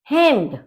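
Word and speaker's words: Hemd: हेम्ड, हेम्ड का मतलब है शर्ट। ठीक है, तो देखिए ई का जो आपका प्रोनाउंसिएशन होता है वो ए होता है, तो इसलिए हम इसको बोलेंगे हेम्ड।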